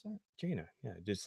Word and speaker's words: Jaina: Is that how you pronounce that? Jaina. Yeah, just like Jaina.